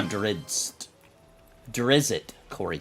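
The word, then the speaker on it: Drizzt: I bet according to the Wikipedia it is pronounced Dr i s t drist okay wait driz or drist drist do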